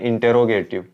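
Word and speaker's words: interrogative: अब उसी प्रकार से इंट्रोगेटिव, इंट्रोगेटिव, अब सही प्रोनाउंसिएशन होता है इसका इंटेरोगेटिव, इंटेरोगेटिव। अब बोलते सारे ऐसे ही है, इंट्रोगेटिव, इंट्रोगेटिव, इंट्रोगेटिव, क्योंकि जैसे हमारे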